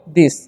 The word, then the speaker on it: this: तो इसे हम पढ़ते हैं हम लोग दिस। क्या पढ़ते हैं? इसे हम लोग पढ़ते हैं दिस, ठीक है, दिस। ओके, यहाँ पर TH का उच्चारण द होता है।